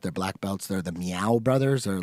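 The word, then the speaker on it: Miyao: Like Meow, like a kitty cat meow? But it's like Sao Paulo, Meow. But Okay. it's not really like meow meow cat.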